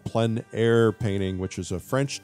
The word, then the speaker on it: plein air: outdoor painting, often called plein air painting, which is a French term, essentially meaning outdoors. The French pronounce it plein air. Others say plein air, but it doesn't matter how you say it.